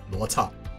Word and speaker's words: Luocha: to pronounce his name in a proper Chinese pronunciation, which is Luocha.